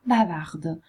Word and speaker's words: bavard: Bavard, chiacchierone, diventerà bavard. Fate attenzione alla pronuncia. Bavard, maschile senza la D, bavard al femminile con la D.